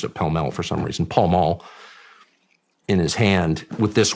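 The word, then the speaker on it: Pall Mall: but he would always have a a a pel he pronounced it pel for some reason pal mul in his hand with this watch and you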